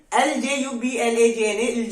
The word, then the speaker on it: Ljubljana: The capital of Slovenia is LJU BLJANA. I don't know how to pronounce it, but I will try. LJUBLAJANA, Ljubljana. So this is the pronunciation of this country.